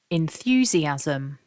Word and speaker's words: enthusiasm: that back together again remember to stress syllable two repeat after me nice and loud enthusiasm enthusiasm as I said at